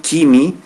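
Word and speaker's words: ⲕⲏⲙⲓ: Donc, sur mon Kimi, c'est pas un nom grec, c'est un mot pur copte. Donc, on va le prononcer Kimi.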